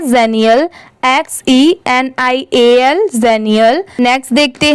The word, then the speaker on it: xenial: इसकी प्रोनाउंसिएशन है जेनियल, XENIAL, जेनियल।